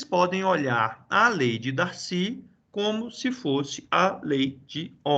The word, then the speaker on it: Darcy: O cara é francês, então é Darcy mesmo, né? A sílaba forte é o Y aqui, tá?